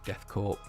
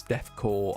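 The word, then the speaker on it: Death Korps: I never know how to say that cuz I know cuz I always say it wrong. It's I know it's death core of I can't help but say corp.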